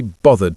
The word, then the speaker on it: bothered: Now, in some British accents, you'll hear this pronounced bothered with a V sound instead of the th sound. I can't be bothered. I stick to bothered with my accent.